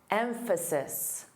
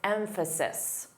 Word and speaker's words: emphasis: Emphasize and the noun emphasis s an s sound unvoiced emphasis.